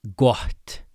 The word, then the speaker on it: gott: And then with two t's in a row right next to each other, there's a little pre-aspiration. So, hopefully you can hear that. I'll try to overemphasize it.